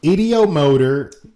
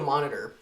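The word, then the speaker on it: ideomotor: You said idiomonitor. No, I didn't. Mm-hmm. There's obviously not a monitor. It's motor.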